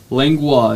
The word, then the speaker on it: Langlois: say your last name langua it's a Cajun French last name nice nice nice okay